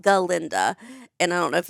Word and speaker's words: Galinda: of the book she says it's ginda it's pronounced galinda and I don't know if it's the same